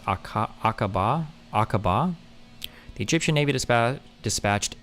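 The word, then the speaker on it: Aqaba: It's pronounced a Aaba. Aaba.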